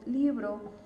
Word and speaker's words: libro: Entonces, si yo me voy a la primer sílaba, que es libro, es donde colgamos más la voz. Entonces, en estos casos, ¿por qué no se tilda? Porque en este caso, libro es una palabra grave, ¿ok? Su segunda sílaba es la que suena más fuerte.